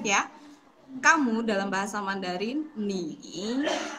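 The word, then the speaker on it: 你: Kamu dalam bahasa Mandarin ni menggunakan tone yang ketiga atau shengtiao yang ketiga, yaitu ni.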